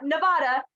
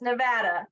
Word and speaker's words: Nevada: And it's not Nevada, it's Nevada. We don't say it the way it's actually Spanish.